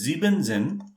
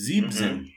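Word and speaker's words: siebzehn: or 17 like thing it is not zibenzen it is zebzen okay yeah yeah so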